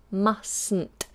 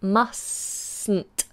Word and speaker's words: mustn't: it harder we do mustn't so that T at the end of must in this contraction is gone mustn't you mustn't pronounce